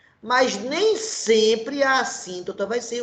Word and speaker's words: assíntota: Assíntota, com 2 S's e uma palavra proparoxítona, que tem acento aqui na sílaba tônica sim, tá certo?